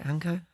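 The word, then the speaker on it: Hancko: Declan Rice is ball into the box, but I think it looks like Hanko's got there and cleared it out. Have I pronounced it right? Hanko?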